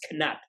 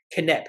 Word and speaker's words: Knapp: And typically when a lot of people do try to pronounce my name, it's Knapp or Knepp, not Knapp, Knepp. And I always say, well, it's not knife or knee or knight. It's the K is silent.